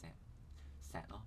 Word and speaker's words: 石: (Yeah, it's actually gravel) But both gravel and stone have a character "Stone" (石, pronounced as "shek") in it...